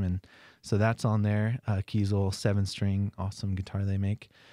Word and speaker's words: Kiesel: Kiesel like diesel, spelled the same.